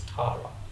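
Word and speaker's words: Tára: accent over the A R A so it's pronounced as Tara right and when we try to register my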